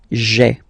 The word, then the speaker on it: j'ai: you've got this sound j'ai, okay? So j apostrophe ai. Remember, when you combine this ai, you get the e sound, okay?